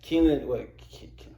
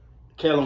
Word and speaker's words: Kellen: Keelan. I can never pronounce his name. Is it Keelan Winslow? Kellen Winslow.